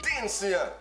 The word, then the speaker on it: DNCE: Toute la maudite été, ils étaient fatigués avec cette tune-là, puis je parle du groupe DNCE. Vous avez pas compris? DNCE! Comment est-ce qu'on prononce?